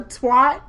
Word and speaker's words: twat: Well, how do you pronounce it? A twit? Twat. Twat. Well, yeah. Does that mean the same thing there? It's twat. It's twat.